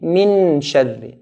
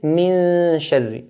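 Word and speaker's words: مِن شَرِّ: If I touch it, it will be min sharri. Min sharri. Noon will be clear. We want to hide it. So we'll say min sharri. Min, the ghunna, min, then say the sheen. Min sharri. Min sharri. This is how to hide the noon.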